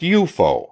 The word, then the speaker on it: UFO: if less colorful name unidentified flying objects UFO pronounced eupo for short officially the military